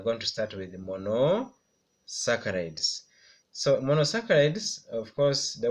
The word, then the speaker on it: monosaccharides: this ones include the monosaccharides I want you to pronounce with me mono saccharides then then we have